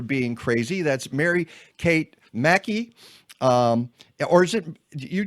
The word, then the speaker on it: Mackey: That's Mary Kate Mackey. Um, or is it, you do pronounce it Mackey, right?